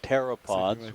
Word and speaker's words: pteropods: the shells of planktonic gastropods called pteropods with a silent p or thickesomes um they